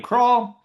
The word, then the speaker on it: Krull: But if you do want to follow me, you can follow me at Krull. It's spelled like scroll. but without the S.